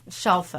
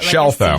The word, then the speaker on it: Scelfo: Scelfo. Like Scelfo. Seashell.